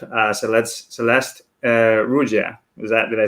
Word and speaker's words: Ruggia: today we have uh so let's celeste uh rudya is that did i say it correctly yep